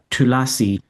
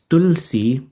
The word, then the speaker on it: tulasi: But one common one I've noticed is people say tulasi, or it's tulsi, but tulasi is the Sanskrit. In Hindi, it's tulsi. They've just taken this slight out of the pronunciation. But tulasi is this, and some people do a sharper t because it's a tulsi. They say tulsi plant, but it's not tulsi because that's the sharper t, and the th is